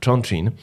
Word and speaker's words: Chongqing: Byłem na stypendium w Chinach, w takim mieście, nie miałem zielonego pojęcia, jak się wymawia nazwa tego miasta. Potem ogarnąłem się, że to jest Chongqing.